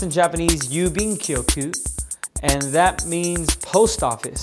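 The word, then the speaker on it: 郵便局: then there's a third one here and it's pronounced in Japanese yubing koku and that means post office so if you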